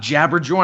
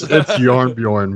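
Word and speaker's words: Jarnbjorn: I got Jabberjorn. I picked all the best perks. It's Yarnbjorn, man. Jabberjorn. It's Yarn. They're pronounced as Y's, man.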